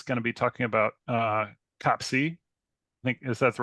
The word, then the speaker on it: COPC: The community seems to be coalescing around COPC, but you'll hear COPIC quite a bit too. That's the English American pronunciation.